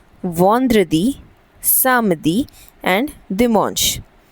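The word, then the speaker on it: vendredi: सो य दी यदि Friday we से इट एज वंद्रदी वन द्र दी वंद्रदी देन वी हैव सैटरडे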